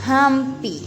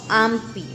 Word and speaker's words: hampi: Recuerde que la H es muda, pero en el quichua la H se convierte en la J y nosotros pronunciamos así, hampi, no ampi.